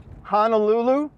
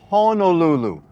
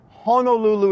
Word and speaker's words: Honolulu: you're wrong it's not Honolulu it's Honolulu Honolulu is the correct pronunciation and that's not the way you would pronounce this word spelled out in English maybe you got Honolulu